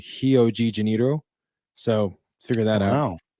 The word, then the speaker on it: Rio de Janeiro: Rio and our and in Brazil ours are pronounced as H's fun fact so Rio de Janeiro is actually heogeniro so let's figure that